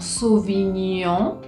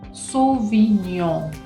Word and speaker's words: Sauvignon: El sonido on, como Sauvignon, es cuando encontramos la letra O y la letra N juntas. Sauvignon. Acá realmente es la boca bien redonda.